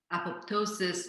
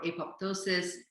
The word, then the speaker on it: apoptosis: mechanism in our body which is pronounced in two ways and both of them are cracked apoptosis or apoptosis it's a cell suicide